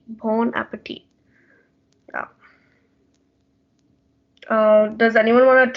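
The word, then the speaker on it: bon appétit: in the french language you actually don't pronounce the last t in at the end of the word it's just pronounced bon appetit bon appetit uh does anyone want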